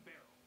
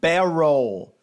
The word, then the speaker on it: Beryl: There is a difference in pronunciation. One is Beryl, Beryl. The other is Beryl. It's subtle, but I don't think Doug's brain understands subtlety. Yeah.